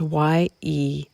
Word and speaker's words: Yeshe: to Tantra, A Vision of Totality by Lama Yeshe. I don't know how to pronounce that. It's Yeshe.